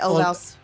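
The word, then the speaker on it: Ulvaeus: say Olvaus.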